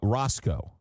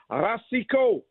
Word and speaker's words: Racicot: And we asked him and he said it's pronounced Ros uh Rosco. That's how he pronounces it. Rosco, tell him the Italian boy that speaks French, English, Ukrainian up in Montreal says it's Rasico.